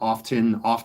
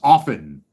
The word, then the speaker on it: often: It's like idiots that pronounce the word often. It's often. The T's silent.